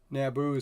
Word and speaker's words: Naboo: want to come out Naboo sounds like uh reminds me of Yahoo I don't know why because it's two syllables Naboo Yahoo this feels like it should be said that way so worst case I'll